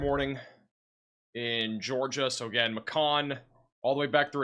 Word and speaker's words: Macon: Macon rhymes with bacon.